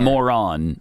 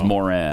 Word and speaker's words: Moran: Not Moran. It's Moran.